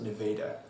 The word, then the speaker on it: Nevada: There's a Nevada, Iowa, too, except they pronounce it Nevada.